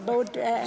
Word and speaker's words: birr: bạn có thể mua gì cho 20 Birr? (phát âm là bơ) bánh mì...bánh mì cho các con tôi.